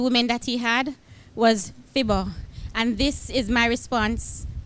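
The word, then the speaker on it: Phibbah: that he had was Fibber. And this is my response to Fibber, and it's found in Kingston Buttercup. Dear Fibber, your name half rhymes with Siver, the dance move that's in.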